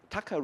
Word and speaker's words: Taka: Taka, if you do not know, it's Taka rhymes with Thaksin, you know.